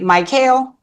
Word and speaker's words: Mychael: And he told me earlier how to pronounce then is it My- Mychael? It's Mychael.